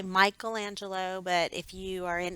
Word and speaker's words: Michelangelo: on the right is a statue done by michelangelo of moses and by the way that is how you say it the italians pronounce the eyes like an e so i know a lot of people say michelangelo but if you are in italy which is